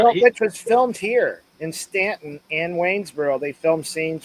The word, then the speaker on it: Staunton: Although it's spelled Staunton, but it's pronounced everybody. And that's how you know whether people are locals or not. Is how they pronounce the name, but they say Stanton.